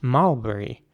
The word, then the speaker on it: mulberry: And it's pronounced mulberry, not mulberry. That's the important thing here. So the U is pronounced like a sound, mulberry, not mulberry or something, but mulberry.